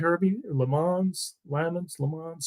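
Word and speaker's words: Lammons: opening kickoff and uh Chris LeMans am I pronouncing that right Herbie LeMans lemons Le Mans spelled lamons pronounced Le Mans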